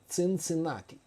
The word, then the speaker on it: Cincinnati: talk about now is Cincinnati or as we pronounce it here we pronounce it here more Latin way in a Latin way that would be Cincinati yeah Cincinati that's how